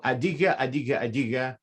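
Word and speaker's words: Adyghe: which is adiga so adige there's no variate there should be no variation that is the correct pronunciation of the g a now there is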